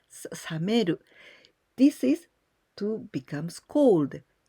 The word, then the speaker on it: 冷める: And in this case, we use with this pronunciation, sa, this kanji, we pronounce sameru.